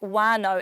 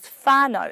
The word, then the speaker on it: whānau: Like, you might notice me saying words like wānau and wakapapa, when it's normally said as whānau and whakapapa. I'm not saying it wrong, that's just my local dialect from Whanganui.